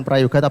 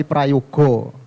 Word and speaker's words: Prayoga: Sebelumnya perkenalan, nama saya itu sebenarnya bukan Prayoga tapi Prayogo. Kalau dalam bahasa Jawa kan kalau belakangnya A itu kan bacanya O, jadi sebenarnya Prayogo.